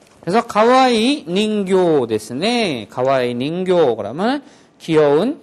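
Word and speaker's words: 人形: 그것은 인형이다, 내 인형이다 이럴 때 할 때는 닌교라고 길게 발음을 해줘야지 됩니다. 그래서 가와이 닌교 데스네.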